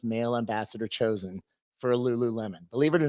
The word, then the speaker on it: Lululemon: called the Lululemon oh is that how you pronounce it yeah Lululemon so um anyway I end up connecting with